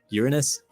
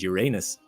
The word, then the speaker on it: Uranus: It even has two ways to pronounce it, as no one has been able to definitively agree on the matter: Uranus and Uranus.